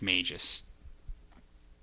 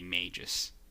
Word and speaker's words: Magus: Brendan skyblade I um it is Magus for Chrono Trigger for us it's Magis Tanya is very insistent that it'd be Mages hey what's up Ryan how's